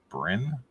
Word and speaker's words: Bryn: a creative or Brent Brynn Brian Brynn how do you say that Brynn Brynn it's Bryn Adams a creative and talented